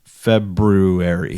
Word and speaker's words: February: do you what's like the correct way to pronounce february february there's an r in there i know so it